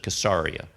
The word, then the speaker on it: Caesarea: 10, where you have the centurion up in Caesarea, some pronounce it Caesarea.